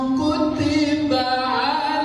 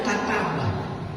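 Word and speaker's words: كُتِبَ: Ya ayyuhalladzina amanu kutiba alaikumus syiyam. Kenapa dibacanya kutiba, bukannya kataba? Kalau bukan dibaca kataba, ada kalimat Allahnya kataballah, tapi dibacanya kutiba.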